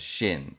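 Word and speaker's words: 神: alphabet which is uh in Japanese is pronounced as Shin s sh i n and that just means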